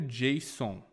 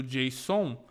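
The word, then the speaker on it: JSON: requisição uma coisa que nós chamamos de objeto Jason se escreve JS o n Ok esse objeto Jason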